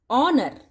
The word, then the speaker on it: honour: Honor.